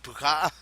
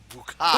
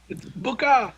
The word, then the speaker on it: Bukah: they shoot uh bukah believe her name is bukah there are no other syllables there it's bukah what's your name buah okay I'm gonna punch